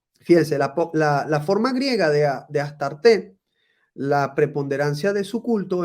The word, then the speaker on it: Astarte: En la Biblia recibe el nombre de Astoret o Astarot, pronunciación desfigurada de la original Astart, mediante la inclusión de las vocales de la palabra hebrea boset, vergüenza, según uso piadoso de los rabinos para desprestigiar a las divinidades paganas.